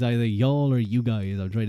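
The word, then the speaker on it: Youghal: When I hear the word y'all, I just think of like y'all in Ireland, in Cork. It's spelled Y-O-U-G-H.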